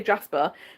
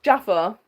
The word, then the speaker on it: Jaffa: And I think that might just be the way I pronounce his name and people hear Jasper, but it's Jaffer like a Jaffer cake.